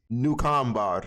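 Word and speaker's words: Nukuamvarr: New combar.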